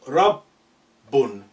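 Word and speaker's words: رَبٌّ: needs to be reflected i will say rob as if you are saying rub and then bone so rub bun bit of pores there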